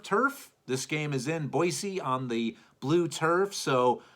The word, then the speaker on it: Boise: at Boise that that is how you properly pronounce it guys by the way Boise not Boise Boise State let's see what uh the guest